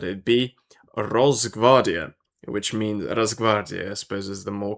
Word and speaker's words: Rosgvardiya: to guess that it'd be Rosgvardiya, which means Rosgvardiya, I suppose, is the more correct pronunciation.